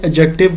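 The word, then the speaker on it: adjective: जैसे इससे पिछली क्लास में मैंने एडजेक्टिव का बताया था कि जनाब आपने एडजेक्टिव को एडजेक्टिव प्रोनाउंस करना है। Don't pronounce as एडजेक्टिव। डी नहीं होगा उसके अंदर। डी साइलेंट है।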